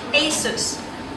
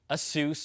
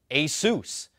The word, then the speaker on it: Asus: final word from them Asus repeat once again Asus thank you see it's not Asus or Asus it's Asus and you know I